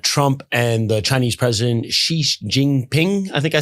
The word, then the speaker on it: Xi Jinping: up given that Trump and the Chinese president Xi Jingping, I think I said that correctly. N how do you say Xi Jinping? Xi Jinping.